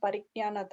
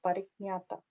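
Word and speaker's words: parijñātā: It's not Pariknyanata. I pronounced wrongly before. It's Pariknyata.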